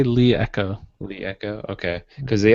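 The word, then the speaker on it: LeEco: My fail is gonna be La Echo. Is that how you say it, Chris? La Echo? They say Lee Echo.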